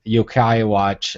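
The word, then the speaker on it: Yo-kai Watch: or you now have Yokai Watch I'm probably butchering that name but that's like a Pokemon no you're not you're exactly saying it right okay watch and you've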